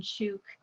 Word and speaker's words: Chuuk: coaster I and so they took the proper spelling and pronunciation of their islands back after that so unfortunately anytime that you're reading about world war ii we're talking about it it's charcoal goon but now it's properly sub shook so i tend to